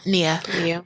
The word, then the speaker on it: Nia: I'm going to name my daughter, is it Nia or Naya? Nia. Just for, I love that name. Nia. Well, my friend's name is Naya and it's spelled the same way.